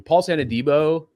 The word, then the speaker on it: Paulson Adebo: Paulson Adebo.